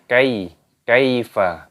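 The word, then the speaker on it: كَيْفَ: Ini cara membacanya kaifa, bukan dipanjangkan.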